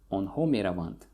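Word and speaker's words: меравант: So again, we don't need here on ho meravant, or just meravant. The stress falls on the first syllable, meravant.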